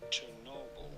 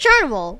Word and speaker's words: Chernobyl: please honey 1986 it name is usually pronounced in English as Chernobyl yeah turnable it's pronounced churnable why are we so why are we all so confused on that it's pronounced turnable Oh, bro.